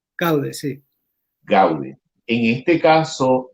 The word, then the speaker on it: Gaude: dirigías la pieza, si me equivoco en la pronunciación me corriges, Gaude. Gaude, sí.